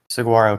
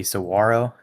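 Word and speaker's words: saguaro: is the carnagia gigantia saguarro cactus or um some the technical pronunciation would and like the native word would be sawro. You don't actually pronounce the G, but pretty much everybody pronounces the G.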